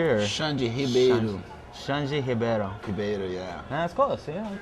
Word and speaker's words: Ribeiro: Scott with Grapple TV, and I'm here with Xande Ribeiro. Did I pronounce that correctly? Or? Xande Ribeiro. Xande Ribeiro. Ribeiro, yeah.